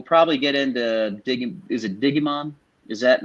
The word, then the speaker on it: Digimon: We'll probably get into Is it Digimon? Is that how you pronounce it? Digimon.